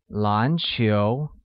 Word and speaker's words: 篮球: Basketball uses a mid-rising tone on both A and U, making it 篮球.